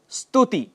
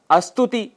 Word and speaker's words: स्तुति: ऐसे ही स्तुति, जिसके लिए हम अस्तुति कह जाते हैं।